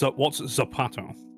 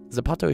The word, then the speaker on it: zapato: What's Zapato? Uh, that's Spanish when they So, people in Spain pronounce it as a th in in Mexico and stuff. It's a Z and that means shu. Zapato.